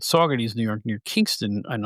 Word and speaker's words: Saugerties: all go to the brand new McDonald's in Sugar Ties, New York. Sugar Ties. And then later after he plays the song, and then he goes, I've been informed that it's pronounced Saugerties.